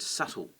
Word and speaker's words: subtle: looking at the word subtle and that pesky b in the middle that we don't pronounce but we have to